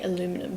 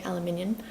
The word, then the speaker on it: aluminium: come in like the aluminium americans say aluminum but in australia we say aluminium element i can't even